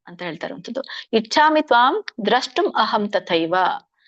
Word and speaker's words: ದ್ರಷ್ಟುಂ: ಕಿರೀಟಿನಂ ಗದೇನಂ ಚಕ್ರಹಸ್ತಂ ಇಚ್ಛಾಮಿ ತ್ವಾಂ ದೃಷ್ಟುಮಹಂ ತಥೈವ ತೇನೈವ ರೂಪೇಣ ಚತುರ್ಭುಜೇನ ಸಹಸ್ರಬಾಹೋ ಭವ ವಿಶ್ವಮೂರ್ತೆ. ಇದರ ಒಂದು ಉಚ್ಚಾರಣೆ: ಕಿರೀಟಿನಂ ಗದಿನಂ ಚಕ್ರಹಸ್ತಂ ಇಚ್ಛಾಮಿ ತ್ವಾಂ ದ್ರಷ್ಟುಂ ಅಹಂ. ಇಲ್ಲಿ ದೃಷ್ಟುಂ ಇಲ್ಲ, ದ್ರಷ್ಟುಂ ಅಂತ ಇದೆ, ಅದರ ನೋಡಲು ಅಂತ ಹೇಳಿ.